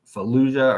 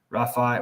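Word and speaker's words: Rafah: now they're going straight into fuah or not fuia but Rafa whatever shoot I shouldn't say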